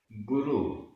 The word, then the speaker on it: गुरु: देव, देव, गुरु, गुरु, यहां रा में छोटे उ की मात्रा है, गुरु, धम्म, धम्म, गुण, चारितम, ये पूरा एक समासित पद है।